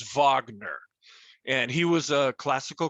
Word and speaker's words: Wagner: Wagner, really, the correct way to say that is Wagner.